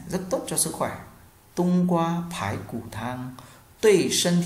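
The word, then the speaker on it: 冬瓜: Hoặc là ta có một dạng nữa to một chút đúng không, chúng ta đọc là tung qua, tung qua, tung qua.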